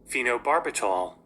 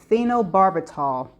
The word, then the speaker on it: phenobarbital: And this is how it's pronounced. Phenobarbital. Phenobarbital.